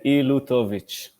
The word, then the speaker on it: Ilutovich: hard name i know it's a ilutovich it's a russian name and it's pretty long